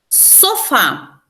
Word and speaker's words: sofá: Sofá é uma oxítona, ó. A última sílaba forte, né?